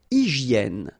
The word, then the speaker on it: hygiène: Une hygiène. So remember, we've got this Y here, vowel, and it's pronounced like E. E, okay? Hygiène. H doesn't exist, H doesn't exist in French, so hygiène.